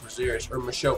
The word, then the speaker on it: Michel: This fight, man, Michel Prazeres, his name's spelled Michael, but they pronounce it Michel, so that's how I'm going to pronounce it.